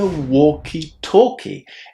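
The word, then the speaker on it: walkie-talkie: In fact, this thing is called a walkietalkie. Again, without the L's.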